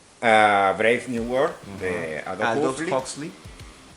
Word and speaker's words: Aldous: geopolítica, por ejemplo, tenemos a Brave New World de Aldous Huxley. Huxley. Adolf.